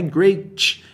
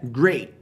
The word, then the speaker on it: great: Cuidado com a pronúncia do T no final. Não é great, é great. T mudo.